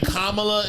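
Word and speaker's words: Kamala: say this you hearing kamla is the correct pronunciation but I need I'm I think kamla Harris is the correct pronunciation of her name okay I think kamla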